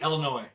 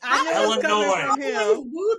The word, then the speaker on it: Illinois: So, hey, Illinois. Yeah. Don't pronounce that S. Don't pronounce that S. Illinois.